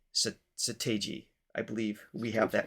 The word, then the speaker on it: Seo Taiji: Sa rhymes with duh. So that's a good start. Sa. Te rhymes with day. G sounds like the letter G. So Seo Taiji. Seo Taiji.